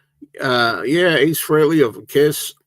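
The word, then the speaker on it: Frehley: He goes, "Not Ace Freely, it's Ace Freley."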